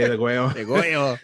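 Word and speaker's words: Degüello: of their Degueo album, depending on how you want to say it, Degulo, Degueo. You're Latino, say it right. We're Latino, so we got to say Degueo.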